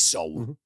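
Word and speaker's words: Seoul: uh sew soul seal so it is soul i've i should know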